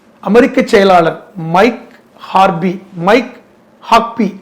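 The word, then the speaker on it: Huckabee: [தொண்டையைச் சரிசெய்தல்] எப்படி கட்டுப்படுத்தணும் இப்ப இப்ப இஸ்ரேலுடைய அமெரிக்க செயலாளர் மைக் ஹார்பி மைக் ஹாக்பி அவர் பேரு சரியான உச்சரிப்பி ஹாக்பி தான்.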